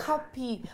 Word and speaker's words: Cuppy: I'm like cup and P.